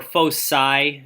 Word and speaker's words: foci: there's two foci or Foe sigh i don't care how you pronounce it I've always pronounced it foci but the other one is correct and what this is